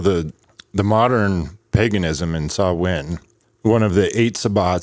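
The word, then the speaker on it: Samhain: So, um, how did you pronounce the the Celtic holiday? Sawin. I put it on the cover page. Uh, s a h w i n. Sawin was one of the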